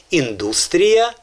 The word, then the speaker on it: індустрія: І ще два слова, де змінилася назва в російській мові, наголос в російській мові змінився в 58-му році, а в українській залишився. Це індустрія і металургія.